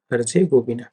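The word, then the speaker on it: Herzegovina: ये देखिए इसका प्रोनाउंसिएशन है हर्जेगोविना।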